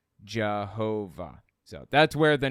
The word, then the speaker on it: Jehovah: And passing through Germanic regions, Y's are pronounced like J's, W's pronounced like V's. You end up with the name Jehovah.